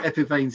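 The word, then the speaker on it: Epiphanes: Marine Industrial and epiphans I got it right that time I've got it wrong every time epic veins is how it's pronounced I'm told um little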